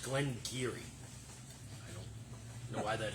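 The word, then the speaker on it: Glen Garioch: Glengarioch, pronounced Glengarry, some sort of Gaelic pronunciation. So for your proof hounds, That sounds pronounced. yeah, What? in Old Gaelic it's pronounced Glengarry.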